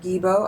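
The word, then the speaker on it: Gebo: This rune is called, it's the gift, it's called Gibo. I think that's the pronunciation. It could be, the G might be pronounced differently. It's a Scandinavian language, obviously, Viking language.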